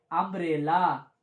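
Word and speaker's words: umbrella: जैसे अगर हम लिखें अम्ब्रेला, क्या लिखें? अम्ब्रेला। तो बच्चों ये बताओ, इसमें क्या लिखा? तो क्या है? यू लिखा है, लेकिन इसका उच्चारण क्या हो रहा है? अम्ब्रेला।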